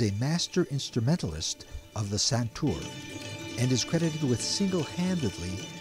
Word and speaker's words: santoor: with you um pundit shivkumar Sharma a world-renowned santour player am I pronouncing it correct santour you're absolutely correct okay uh called pundit yeah